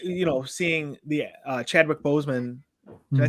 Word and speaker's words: Chadwick Boseman: sad um with you know seeing the uh Chadwick Boseman did I say his name right yes yeah